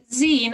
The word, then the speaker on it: zine: Zine, as in the end, it's the last 4 letters of magazine, so it's short for magazine, Z-I-N-E.